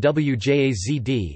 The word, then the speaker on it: wjazd: The pronunciation of the sequence wja in wjazd is the same as the pronunciation of wia in wiadro, bucket.